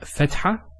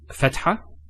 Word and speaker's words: fatha: So we have the first harakah, which is fatha. Now, for example, when we say the word cat, notice the a sound. It's a sound. Cat. That's the same sound of a fatha.